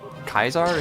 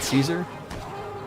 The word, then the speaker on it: Caesar: You pronounce Kaisar is Kaisar in traditional Latin, not Caesar.